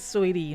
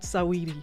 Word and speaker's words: Saweetie: Listen, they said it's Sweetie, not Saweetie. It's Saweetie. Sweetie. Me and Menace had a whole debate on that. Menace, Serious? yeah, we even went on YouTube to listen to her pronounce it, and it's not pronounced how it's spelled. I was saying Saweetie, and it's Sweetie. The A seems to be silent in the middle.